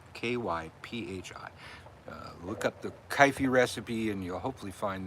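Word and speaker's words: kyphi: potent incenses since then if you don't know kaifi you can look it up um kaifi was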